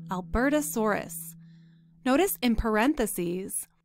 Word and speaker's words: Albertosaurus: to a dinosaur called albertasaurus notice in parentheses it's showing us how to pronounce that word so we can see how it's broken up into syllables notice how the s-o-h-r is in capital letters that tells us that